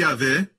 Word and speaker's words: Yahvé: Por isso muitas pessoas pensam que Yahvé é dono, é um mestre, mas não é. Foi por causa do medo que alguns judeus têm, porque quando eles veem Yud-Hei, Vav-Hei, que deve ser pronunciado Yahvé, eles dizem Adonai.